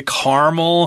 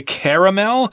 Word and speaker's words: caramel: I guess you say caramel. Mm-hmm. Some people say caramel. Yep. Both pronunciations are correct. It looks more like caramel, to be honest. It does, yeah. But we grew up saying caramel.